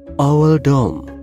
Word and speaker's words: Oldham: Kalau dibaca kayak emoji, berarti owl dom, yang merujuk pada Hugh Oldham.